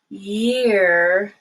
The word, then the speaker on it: year: the way through it the first one has a stop of the airflow jeer while the second one year you keep pushing your air through now jail is a place